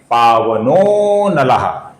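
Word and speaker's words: पावनोऽनलः: तो इसका उच्चारण हमें कुछ लंबाई से करना पड़ता है, अर्थात पावनः के आगे पावनः का ओ बनने के पश्चात हमें उसको थोड़ा लंबा खींचना पड़ेगा और फिर नलः का उच्चारण होगा, अर्थात पावनः अनलः मिलके बनता है पावनो नलः।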